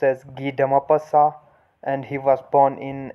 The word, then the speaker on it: Guy de Maupassant: and his writing style so the name is pronounced as ghee dama passa and he was born in 1850 in france